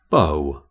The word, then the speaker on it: bow: I've hardly changed so that's the first pronunciation bow the other pronunciation of this homonym is Bow Bow can mean to bend at the waist as a show of respect schah can you help